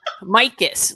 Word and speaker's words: Mikos: Mikos, like my kiss.